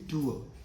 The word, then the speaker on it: tour: I repeat, the correct pronunciation of this word is tour.